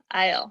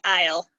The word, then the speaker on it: aisle: so you don't pronounce you don't pronounce the a you don't really pronounce the s or this s you could spell it just i l e Isle that's the right pronunciation